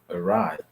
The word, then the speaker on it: awry: The common rule is when you see A and W together in a word, you can pronounce the sound O. But because of that rule, okay, because of the fact that every rule has an objection, then it can be pronounced in other ways, like awry.